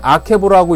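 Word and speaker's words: עקב: 발꿈치는 아케보라고 읽고요. 그 다음에 야곱은 야코프라고 읽습니다.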